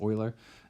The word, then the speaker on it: Euler: called Euler circuits so as I mentioned earlier pronunciation is Euler an Euler circuit is